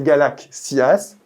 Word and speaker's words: galaxias: Suite à l'assimilation du to devant le iota, le mot est prononcé galaxias et écrit galaxias avec un xi, ce qui a donné le mot galaxie aujourd'hui en français.